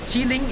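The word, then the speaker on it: qilin: are depictions of this mythical creature called chiling chiling is spelled as q i l i n is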